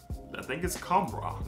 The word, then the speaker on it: Khamrah: But I think it's Khamrah.